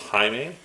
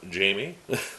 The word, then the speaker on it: Jaime: me and like I said his name is pronounced haime not Jamie so we'll move on to the next return